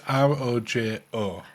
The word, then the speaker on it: Rojo: either Rocco Roco or Rojo. So it's R O J O. Now I think you'll actually find that the J is a H and it's a Rojo.